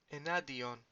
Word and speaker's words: εναντίον: Enadion. Enadion. Remember NTD. Enadion.